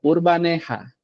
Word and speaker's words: Urbaneja: Eu acho que sim, todo mundo pronuncia assim, mas a pronúncia correta seria Urbanra. Urbanra, por conta de que o J é tem um som de R.